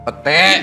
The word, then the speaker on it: pete: Ternyata anak muda ini lahir di Kanada, pindah ke Belanda, tapi suka makan pit. Bener? Pete. Iya. Iya, bacanya pete.